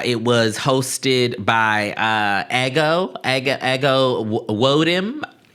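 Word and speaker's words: Ego Nwodim: and so uh it was hosted by uh Ego Ego Ego Wodm I I believe is how you say the beloved's name. Um she was fine. Yeah, she was fine. No, it's ego.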